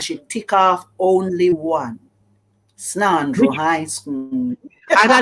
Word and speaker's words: Snandro: Snandro High School. And I like to pronounce it properly, you know. Snandro.